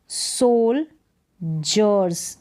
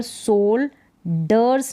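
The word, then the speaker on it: soldiers: पर है इसको पढ़ेंगे सोल जर्स अब यहां पर सोल डर्स नहीं पढ़ेंगे डी आई ई आर एस इसको जर्स इसका उच्चारण हो जाएगा सोल्जर्स ज का साउंड आएगा सोल्जर्स न कि सोल्डर्स सो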